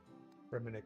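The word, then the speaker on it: Fremennik: I'd say Fmanic. Fminick.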